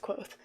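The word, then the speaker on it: Kvothe: it's told is that there's this guy named quoth or kavo that spelled kavoth but it's pronounced quoth there's this guy named cloth and he lived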